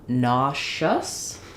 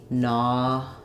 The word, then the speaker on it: nauseous: have yet another um pronunciation for that letter s it becomes nous so we now have the sh sound for that letter s